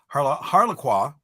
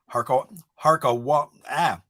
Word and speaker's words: Harquahala: Now, also, I think it's also kind of cool because Harlequin, nope, I'm pronouncing that wrong. Harquahala Peak Observatory, which was where they first studied the sun.